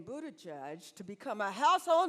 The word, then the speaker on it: Buttigieg: to face how do you get the name Buddha judge to become a household name in America I have heard it mispronounced so many times by my colleagues in